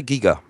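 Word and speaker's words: Giger: a mixed bag here is it gerer or uh we say Giga yeah g okay yeah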